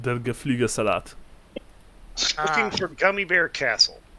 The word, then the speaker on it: Der Geflügelsalat: But Der Geflugesalat.